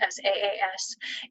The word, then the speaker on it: SaaS: They spell it SAAS, and that has a very different meaning than how I hear it, which is SaaS, like I'm giving somebody a little bit of sass or using some sarcasm,